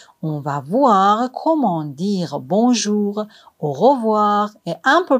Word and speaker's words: bonjour: On dit bonjour généralement jusqu'à 18h. Bonjour. On ne prononce pas le N complètement. Le son N vient du nez. Donc on dit pas bonjour.